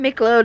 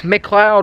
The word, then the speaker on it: McLeod: I saw all of you comment saying it's not Micheload, it's McLeod or something like that.